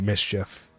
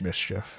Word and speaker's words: Mischief: uh oh it's uh it's mischief actually no no mischief he even says it himself it's mischief oh okay because his his name is spelled like miss uh chief that's why yeah yeah